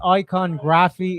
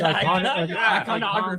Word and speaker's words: iconography: It's not pronounced iconography. It's iconography. Iconography. You know what? You put the wrong emphasis on the wrong syllable.